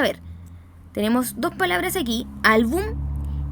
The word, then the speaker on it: álbum: Reconocemos entonces la carga de voz, o sea, la sílaba tónica, aquella sílaba que recibe la mayor carga de voz. Reconocemos que está en la penúltima sílaba y vamos a ver